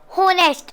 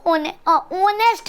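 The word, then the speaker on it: honest: यहाँ पे eight silent है।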